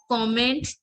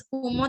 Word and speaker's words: comment: So como, it is comment, but you have to pronounce it as como.